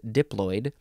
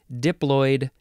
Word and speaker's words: diploid: fun word to say diploid and diploidy oh that's filled with um diphthongs there's not filled with there's only one oid the o i oi that's a diphthong next meep diploid second